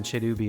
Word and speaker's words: Cherubi: Now I'm playing Pokemon in Japanese because I pronounce the R in Cherubi as if it's a Japanese name.